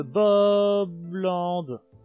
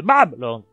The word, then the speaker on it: Babland: Petit cavalier, tu es un petit cavalier, te baladant dans les prairies de Bobland. De Babland! J'oublie toujours qu'il faut le prononcer Bab en fait, je suis bête.